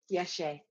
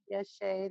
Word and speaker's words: Yeshe: I am in bed with a sick cold today, so I have the time available, and I've been seeing, is it pronounced Yeshe? Yeshe. Yeshe.